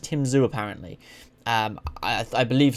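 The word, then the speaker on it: Tim Tszyu: and tim zu i've heard his name is just pronounced tim zhu was it tim tazu i think it's just tim zoo apparently um i i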